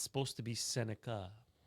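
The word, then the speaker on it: Sennecke: Correcting our pronunciations. It's supposed to be Senica. Very nice. Not Senaki.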